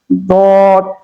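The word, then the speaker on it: ضاد: উপরে মাড়ির কি করতে হবে? গোড়ার সঙ্গে লাগাইয়া এই হরফটা উচ্চারণ হবে। সেখান থেকে যে হরফটা উচ্চারণ হবে সেই হরফটার নাম হচ্ছে দদ।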